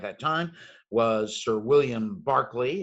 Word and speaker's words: Berkeley: time was sir william barkley it's spelled berkeley but you're supposed to pronounce it with barkley um actually sent a